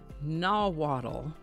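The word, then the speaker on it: Nahuatl: For today's word, we're going to look at a word that comes to us from a language called nawwaddle.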